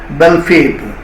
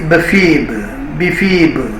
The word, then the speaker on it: Belphebe: Here we should note the pronunciation of name Belphebe is uttered in many ways in Google. So I have chosen one of the pronunciations, Belphebe. Somebody says Bephebe, like that. But I choose and prefer to use Belphebe only.